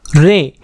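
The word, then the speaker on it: رے: रे, इसका प्रोनाउंसिएशन होगा रे, और हिंदी में इसके लिए जो अक्षर प्रयोग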